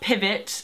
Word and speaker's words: PVT: Well, I really love Pivot. Their name is spelled PVT.